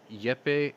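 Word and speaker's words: Jeppe: to leave foreign minister yepei kofad i think it's yepe you don't pronounce the j said they pose a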